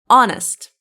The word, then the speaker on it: honest: It's honest. H is silent.